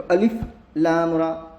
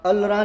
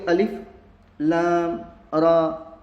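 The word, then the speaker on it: الر: हैं इस तरीके से तो अलिफ लाम रा अल रा नहीं बोलेंगे बल्कि बोलेंगे अलिफ लाम रा हा मीम आया तो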